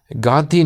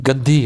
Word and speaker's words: گندھی: بہت متاثر تھا، اور میرا اصل نام انہوں نے کہا کہ گاندھی نہیں گندھی ہے، اور اس کے سپیلنگ بھی انہوں نے دیے کہ گندھی نام ہے، اور وہ گندھی جو